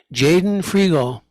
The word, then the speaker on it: Jaden Frigo: in the hot seat this time we have Jaden frial is did I pronounce that right correct yes okay uh I've